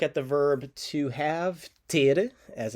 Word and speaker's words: ter: going to look at the verb to have tier as it's pronounced in portuguese one for one more time